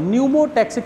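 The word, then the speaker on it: pneumotaxic: P silent है, यहाँ से पढ़ते हैं न्यूमोटैक्सिक सेंटर।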